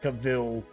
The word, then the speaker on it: Cavill: So, Melwinia says, Cavill carries it, Cavill, I should say, pronounced Cavill, carries it in my opinion.